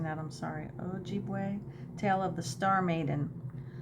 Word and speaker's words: Ojibwe: for the Stars we look to the ojibua ojibwi I'm mispronouncing that I'm sorry Ojibwe tale of the star Maiden a magical creature